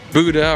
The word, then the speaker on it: Buda: I don't want to say it is Buda, and it looks like it could be Buda or even Buddha, how you want to pronounce it. But it's Buda, like beautiful.